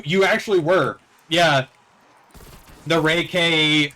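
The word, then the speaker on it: Ray-K 84: were like it's the reiki 47 dude yeah the the i'm still going to call it the ray k i'm pretty sure that's that's how it's pronounced it's the ray k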